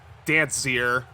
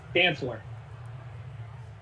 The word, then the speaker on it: Dancler: This is Dancier. Don't know how to pronounce that one, but Joe Burrow with I believe his second or third interception. Oh, that's an L. Dancler.